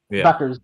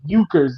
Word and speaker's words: Bueckers: She's got a U in that name and it keeps making me want to say Bueckers and I'm like Yeah.